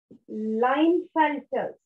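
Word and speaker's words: Klinefelter: Down syndrome और एक और एग्जाम्पल है लाइन फेल्टर्स. इसमें के साइलेंट है.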